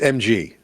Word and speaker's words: MG: machine gun yes yeah it's not pronounced mag it's mg yeah yeah awesome okay